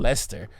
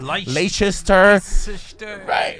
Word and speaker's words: Leicester: That apparently that word is pronounced Leicester. I wouldn't have known unless, you know, like I would have been trying to like pronounce it like Leicester.